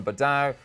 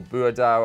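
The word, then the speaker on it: Boadu: But again, they went behind early, with Myron Bordeaux, or Boudou, I think it's actually pronounced, netting within 4 minutes, his 14th of the campaign.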